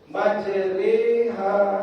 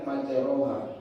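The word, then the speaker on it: مجريها: Majriha, majriha, Bismillahi majriha, Bismillahi majriha. Jadi jangan majroha. Panjang tetap 2 harokat ya. Ro dan H-nya 2 harokat. Majriha. Dah. Mudah. Imalah berarti bunyi suara E.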